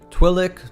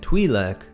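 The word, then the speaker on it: Twi'lek: twin Leu or twile a quick side note here about the pronunciation twick Twi and twac are all canonically correct ways to pronounce their species and you'll even hear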